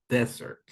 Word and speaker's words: desert: If we're talking about the place, is desert. Desert, right? Like the Sahara Desert, right?